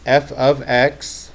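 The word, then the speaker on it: f(x): It's f of x is how it's pronounced.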